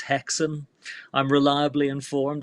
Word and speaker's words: Häxan: that I keep falling in hackson and it's pronounced hackson I'm reliably informed it's a Swedish film so